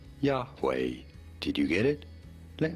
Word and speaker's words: Yahweh: How do you go about pronouncing it? Yahweh, Yahweh, Yahweh.